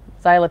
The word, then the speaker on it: xylitol: all XY li t xylitol tal okay right it's not how you pronounce about it I can't I can't like spell well xylitol starts with a Z why cuz it actually